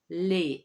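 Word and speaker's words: lait: one is milk milk in french is le lay and with the article it will be do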